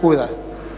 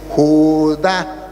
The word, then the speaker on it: Judá: Y él leía Judas. Al final Judas será salvo. Le dije, "No, hermano, aquí dice Judá tiene acento en la ignorancia, es atrevida y lo lleva a decir cosas que no son."